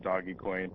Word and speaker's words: dogecoin: its properly pronounced well I'm just setting a new trend I call it dodge coin other people call it doggie coin and the one thing